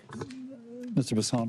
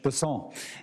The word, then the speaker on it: Bessent: South Louisiana, and I'm going to pronounce it with a French Bessent as opposed to Bessent. That's what those folks in South Carolina do.